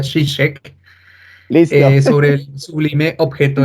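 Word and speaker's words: Žižek: del libro de Ya por lo menos sé que se pronuncia chicheck listo sobre el Sublime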